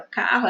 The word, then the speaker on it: carro: Esse RR são duas consoantes, mas quando a gente fala, né, quando a gente escuta a palavra carro, é como se fosse apenas um R.